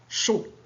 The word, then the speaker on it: chaud: Le contraire de froid, c'est chaud. La lettre muette, c'est D.